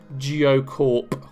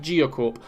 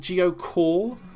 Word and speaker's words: GeoCorp: is in fact pronounced geocorp with a pe at the end it's pronounced geocorp i've heard people calling it geocall like there wasn't a p at the end of the word and it was like